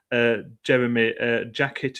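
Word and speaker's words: Jérémy Jacquet: Jeremy Jacket is the pronunciation I'm going for there.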